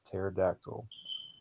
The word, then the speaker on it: pterodactyl: His word is pterodactyl. He sounds it out, but forgets the silent P that comes at the beginning of the word.